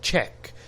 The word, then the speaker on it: Czech: This is how we pronounce this word, Czech.